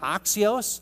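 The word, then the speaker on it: ἄξιος: the term worthy there oxos if you to transliterate that into English it's spelled just as it sounds ax ioos oxio is really the controlling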